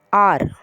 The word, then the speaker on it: hour: என்ன அப்படின்னா ஆர், HOUR, ஆர். இதில் ஹெச் வந்து சைலண்ட், ஆர்ன்னு தான் ப்ரொனவுன்ஸ் பண்ணுவோம்.